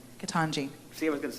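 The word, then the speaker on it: Ketanji: of our newest supreme court justice nominee uh contin i'm going to say it wrong first and i got jackson in my mind what's your first name katanji see i was going to say contingency but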